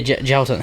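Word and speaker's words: Jailton: Is it Jalton Almeida? Yeah, Jalton.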